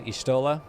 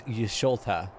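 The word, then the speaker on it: Y'shtola: what's wrong with uh ishtola because i read it wrong there's nothing wrong with her name i read it wrong i i thought it was yusulta you know i thought it was ishota and that it's just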